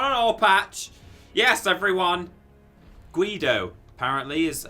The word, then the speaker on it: Guido: Guido, apparently, is how it's pronounced.